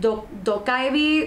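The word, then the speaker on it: 도깨비: There is a lot of folklore and lore about the gumiho and about the, I think it's pronounced dokkaebi, which is Korean goblins.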